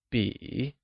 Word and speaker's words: 笔: This is a pen translates to 这是支笔, where 笔 is pronounced using a falling, rising tone, meaning pen.